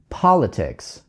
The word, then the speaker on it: politics: Обращаю ваше внимание, куда падает ударение в слове politics. He's very good at politics.